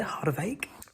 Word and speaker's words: Harderwijk: I've learned how to say it, Harderwijk, in sort of the middle and the north of the Netherlands.